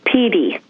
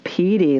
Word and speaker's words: Petey: She's a Jack Russell Terrier, and her name is Petey. P-E-D-E-E, or how do you spell it? No, P-E-E-T-I-E. Oh, Petey, like Pete. Okay, Petey.